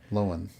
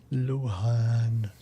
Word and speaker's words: Lohan: Loen. Lohan. Lohan. That's weird that we've got Chad mispronouncing a name.